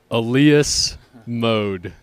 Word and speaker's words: Elias Mode: why don't you say it for the record Alias mode Alias mode it's been our pleasure and our